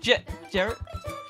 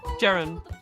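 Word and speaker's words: Ceren: e n I said Jared okay that's how you say it huh gerund accordingly it says Jared spelled spelled c e r e n that's Jan like Jester and ran like Ransom shut your mouth for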